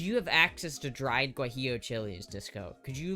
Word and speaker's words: guajillo: This is how you spell it. Gu U A J I L L O is guillo chili.